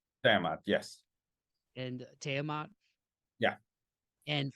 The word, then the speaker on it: Tiamat: saying it correctly but is it Tiamat is that how you say it tamat yes and tat yeah